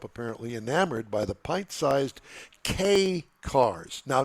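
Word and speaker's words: kei: President Trump apparently enamored by the pint-sized K cars. Now, not the K cars that we're familiar with. This is spelled K K EI that he saw during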